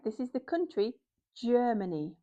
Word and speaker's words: Germany: This is the country Germany with a j sound because the g is followed by e. So, it's Germany.